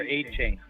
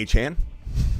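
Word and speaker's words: Achane: I play Swift over A-Chain. A-Chain's got to face a tough Baltimore defense. Who's A-Chain? Number 1 defense. Who's A-Chain? A-Chain. You mean A-Chan? Yeah, exactly. A-Chan. A-Chan, however you want to pronounce it.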